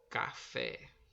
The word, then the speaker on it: café: Exemplo, café, o fé, a sílaba tônica. Café, que foi pronunciada com mais força, com mais intensidade, foi a sílaba fé.